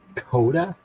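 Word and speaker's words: CODA: c o d a Koda kod c o d a okay that's two syllables then right right okay okay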